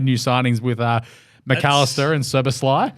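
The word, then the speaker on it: Szoboszlai: So Liverpool have made new signings with McAllister and Soboslai. Oh, he's Soboslai. Bang. Wrote it down and how to sound it out. This is how you do it, stats guy. Phonetically, I like that. Yeah. Soboslai.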